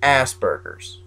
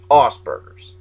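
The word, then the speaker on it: Asperger's: Uh you guys probably know it as asberers. It's actually pronounced oberers and it is a form it is the highest functioning form of autism.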